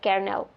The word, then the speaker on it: colonel: Colonel is pronounced as carel witness they pronounce as like Wednesday and Iceland